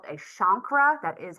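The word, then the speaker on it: chancre: But with primary syphilis we have what is called a shankra. That is how it is pronounced. A shankra which is a small red hard bump that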